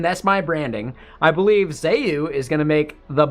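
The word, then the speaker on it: Zeu: It's how it's pronounced. It's spelled Z-E-U.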